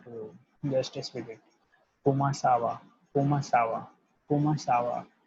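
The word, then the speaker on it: comment ça va: That and in the French it will be pronounced as kumasawa, kumasawa, kumasawa. Right. Just speak 3 to 4 times as I am telling to you. Just speak it. Kumasawa, kumasawa, kumasawa.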